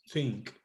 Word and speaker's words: think: This word, think. We have these 2 letters. TH. I had showed you that when you are going to pronounce that sound, you have to take